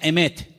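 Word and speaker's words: אמת: conozca la verdad y la palabra verdad en hebreo se pronuncia emet y vamos a ponerla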